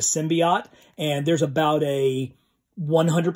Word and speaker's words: symbiote: that i make is i tend to pronounce the word symbiote because that was how i read it when i was a kid that was what it sounded like in my head instead of symbiote and there's about a